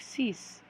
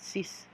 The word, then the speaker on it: six: to six so six it looks it's about just like six but it's pronounced like cease like cease you're gonna see it's candy look at that cease cease almost like you're